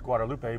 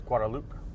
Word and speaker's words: Guadeloupe: Some people might think it's pronounced Guadalupe, but it's Guadeloupe.